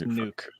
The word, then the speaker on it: Nuk: I got to go Nook Hopkins. Who? DeAndre Hopkins. Oh, Nuke. Nook. Nuke. Yeah, okay, whatever pronunciation. It's Nuke.